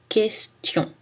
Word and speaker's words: question: Dans les séquences TION, c'est aussi prononcé S, attention, compétition, nationale, action. Mais attention, pas dans le mot question.